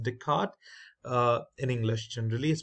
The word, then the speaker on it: Descartes: type way we use Descartes Rule now this is not descarte it's a Descartes uh it's a French name I believe it's pronounced Descartes uh in English and